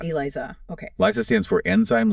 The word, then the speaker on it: ELISA: That's pronounced Eliza. Eliza.